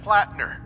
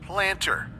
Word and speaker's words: Plattner: this one glitch where sergeant plattner keeps getting pronounced planter dr amari suggests it's